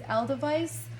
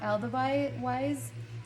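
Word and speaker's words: Edelweiss: So next is Aldeweis, or Aldeweis. I say Aldeweis because it reminds me of like a German word, and the W should be pronounced as a V, so that's why I pronounce it like that.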